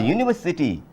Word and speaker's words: university: start from you a university in university it is also start from you but why before on